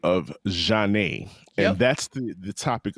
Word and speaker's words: Zhané: the 30th anniversary of John's debut album pronounced Ja and um we